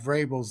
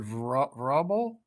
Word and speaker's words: Vrabel: she couldn't pronounce Mike Vrabel's name. She mispronounced it rubble like three or four times.